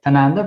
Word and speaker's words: Tanunda: Please correct me if I don't pronounce the name properly. Tanunda, perfect.